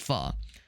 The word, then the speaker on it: pho: h o obviously it's it's spelled pho but it's pronounced fu not fo but fu.